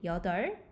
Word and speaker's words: 여덟: So you don't have to pronounce the double consonants, both of them. Like you can just pronounce 리을, 여덟, 아홉, 열.